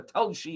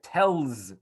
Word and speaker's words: Telshe: going to see soon tells was a city in lithuania obviously it was pronounced by the jews one way and by the locals it had its own pronunciation and therefore although it